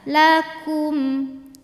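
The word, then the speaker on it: لكم: sudah ke posisi biasa lakum lakum mim mati kalau tidak berhadapan dengan mim atau ba Maka jangan ditahan ya bacanya Cukup jelas saja bunyi m eh izhar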